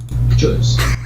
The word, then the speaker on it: KJUS: Okay, so apparently here's how you pronounce KJUS or K-Juice. I always call it K-Juice, but this sounds to me like somebody hacking up a walnut. Juice. That's how you pronounce it.